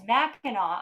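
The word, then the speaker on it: Mackinac: uh thank you and it's mackinaw island because i was like it's spelled differently and and i love somewhere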